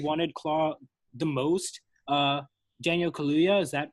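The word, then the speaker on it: Kaluuya: the guy who wanted Klaw the most Daniel Kalia is that how you pronounce last name yeah yeah yeah he was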